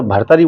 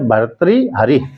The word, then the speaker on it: भर्तृहरि: तो भर्तृहरि, तो लोग बाग उच्चारण शुद्ध नहीं होता है तो भर्तरी बोल देते हैं, है ना। लेकिन भर्तरी बोल देते हैं, भर्तरी। तो शुद्ध संस्कृत शब्द है, शुद्ध संस्कृत शब्द है भर्तृहरि।